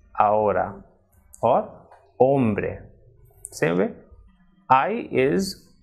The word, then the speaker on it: ahora: actually it is edge Archie is always silent in Spanish word so even though we will write this F of it by trial pronounced thing it will remain silent for example it is not Honduras what it is on Dora's and not ahora but it is our or hombre same way I